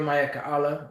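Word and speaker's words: מיכאל: chief Archangel underneath yahawashi the word mayal which is how you say Michael in the Hebrew mayal is who is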